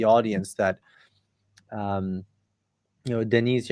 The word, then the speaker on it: Deniz: that um you know Denise am I pronouncing your name correctly by the way? Yeah, it is. But if you find it easy, it's Dennis is fine as well with Dennis.